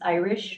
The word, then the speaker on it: Irish: chair Vice chair members my name is Irish like Irish Spring like Barbershop I